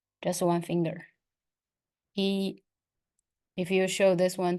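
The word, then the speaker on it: 一: do say one so letter Y and the letter i in Chinese both of them they say e so it's the first tone that will be e e e and in Chinese we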